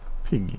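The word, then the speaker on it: pigg: Pig, it's called in Swedish, which is kind of funny. It doesn't spell. It's not spelled like pig. It's spelled P-I-G-G, 2 G's, and it's not the same as pig.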